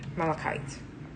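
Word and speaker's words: malachite: We have malikite which is like an emerald or jade green. Actually malite is a jade. So malikite.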